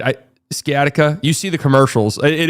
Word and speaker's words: sciatica: You don't pronounce that C. Okay. Sciatica.